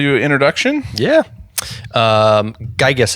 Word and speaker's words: Geiges: Um, Gigas is how you say your last name, right? Correct.